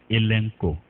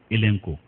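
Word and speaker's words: ἐλέγχω: H o ETCO mais ça se prononce elenko c'est comme s'il y a un N après le deuxème e elenko c'est le mot convaincre le verbe convaincre elenco et il signifie pour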